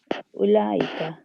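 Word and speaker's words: أولئك: The word is pronounced ulaika, not ulaika.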